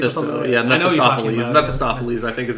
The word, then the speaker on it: Mephistopheles: About Mephistopheles, I think is how you say his name.